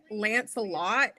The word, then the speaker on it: Lancelette: It's literally Lance a lot, except the O is an E.